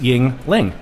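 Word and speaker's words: Yuengling: be able to get a uh a Yingling pronounced Yingling now here's one that I like coming out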